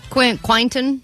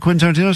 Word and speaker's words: Quentin Tarantino: All week, as she's been talking about this prize we have, she's been saying, Quinton? Quintanana. So we're like, what? You talking about Quentin Tarantino still?